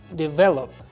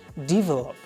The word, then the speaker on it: develop: The stress is on the VE, develop. Most of the language learners put this stress on the first DE. They say develop. This is wrong.